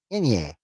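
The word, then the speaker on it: enye: except for NG and N pronounced Inye, Inye, Inye, like Inye womb.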